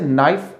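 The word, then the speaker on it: knife: उसी तरीके से नाइफ, इसमें भी हम के को प्रोनाउंस नहीं कर रहे हैं।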